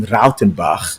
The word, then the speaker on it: Rautenbach: And of course, in the silver category, we got Jaco Nadia, Daniel de Villiers, and Martin Rautenbach. And that's how you pronounce that name, Daniel.